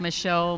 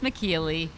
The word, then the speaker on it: Michellie: It's like Michelle, Michellie, Michellie. It's Michellie. But, if you call me Michelle, I will definitely still talk to you.